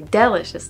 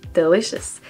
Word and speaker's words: delicious: It's like delicious. I say delicious, but it's delicious. And I'm saying delicious because this is how I pronounce it in French.